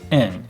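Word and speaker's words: 円: they give us number and then say eng that means that's how much money it is in japanese yen n is how you say yen in japanese now because i'm going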